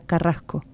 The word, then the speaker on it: Carrasco: Dice, unos amigos mexicanos me hicieron notar que los uruguayos pronunciamos las SC como una J. Por ejemplo, la palabra carrasco. ¿Lo han notado? Es la aspirada. Es la S aspirada de mosca.